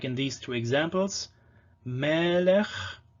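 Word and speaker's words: מֶלֶךְ: Melech, so stressed and open, long. Second syllable is unstressed and closed, so it's short, melech.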